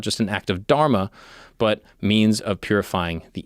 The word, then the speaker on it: dharma: just an act of dharma, but means of purifying the intellect. He taught. Also, I was told that it might be pronounced dharm. I think the A might be silent.